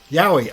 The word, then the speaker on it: yaoi: Yaoi.